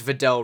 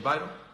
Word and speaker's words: Vidal: KSI's trainer, who is Vidal Riley, and if you don't know who that is, he's actually a professional boxer. Someone tell me the pronunciation, Vital. I mean, you can't even say Vidal, right?